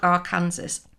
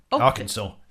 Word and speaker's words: Arkansas: Austin Harper of Little Rock, R. Kansas. Arkansas.